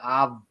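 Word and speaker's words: Ovilus: They went OVIL, right? Ovul. US, us, ovul, us. People go ovulus. I want to know that you're putting the wrong emphasis on the wrong syllable.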